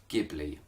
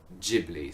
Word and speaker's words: Ghibli: Italian / Arabic is Ghibli with a hard G no doubt about it that's absolutely true however the Japanese pronunciation is most definitely Ghibli so for all of